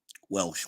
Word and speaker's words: Welsh: Bill Walsh says Orange County. Welsh. Why do I always say Walsh?